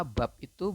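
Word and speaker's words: 밥이: Harusnya kan Anda membacanya adalah bab ya. Tetapi menurut aturan baca di sini, karena di sini bertemu dengan vokal i, maka bab itu berubah menjadi bacanya adalah babi.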